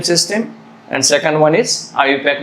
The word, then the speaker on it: IUPAC: And second system, which is very important one, that is IUPAC name system, but this is pronounced as IUPAC name system.